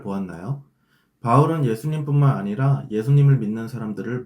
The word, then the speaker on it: 바울: 여기서 사울은 히브리식 발음이고 바울은 헬라식 발음입니다. 사울과 바울은 즉 동일인물이에요.